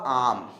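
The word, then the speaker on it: arm: ध्यान दीजिएगा, अपने आप ये आर आपका गायब हो जाएगा, ये आर गायब हो जाएगा, और देखिए इसका उच्चारण क्या होगा? केवल होगा आम, राइट।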